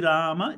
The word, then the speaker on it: Rama: So, and because in the north, if when they write it as Rama, they pronounce it as Ram, right?